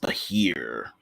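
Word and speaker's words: Behir: Um, Pronounced Bahir.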